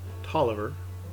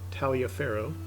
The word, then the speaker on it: Taliaferro: that's uh toliver yep that's pronounced toliver not taliaferro uh pegram and a little